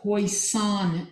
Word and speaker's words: Poisson: This is on the Poisson distribution. Like toy, son is how it's pronounced. Like toy, but poi.